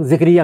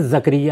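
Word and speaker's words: زکریا: ہمارے عام طور پر لوگ ذکریہ کہتے ہیں، یہ غلط تلفظ ہے. قرآن مجید میں زکریہ ہے.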